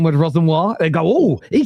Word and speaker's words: Rosenior: Spicy Brighton's fans will be Rosenior out before Mo learns to pronounce it right. Yes, Mo's been calling him Rosenior for the last week. And it's been Rosenior!